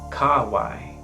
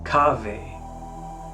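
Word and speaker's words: cave: In Roman pronunciation, this is kawai. In ecclesiastical, kave. These are the two main pronunciations of Latin. I default to the classical Roman pronunciation, but that doesn't mean that the other one is incorrect at all. Some people prefer it, and it is beautiful as well.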